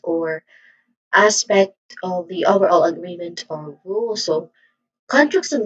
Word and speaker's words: agreement: Now the final syllable here meant um it is also unstressed and it has a vowel sound that iswa that is following a sound. Again it's weak and unstressed vowel sound. So sorry. So again the stressed syllable is the second syllable. So this is agreement again. Sorry for that agreement.